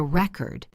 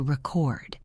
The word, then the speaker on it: record: The noun is a record with the stress on the first syllable. But the verb is to record with the stress on the second syllable.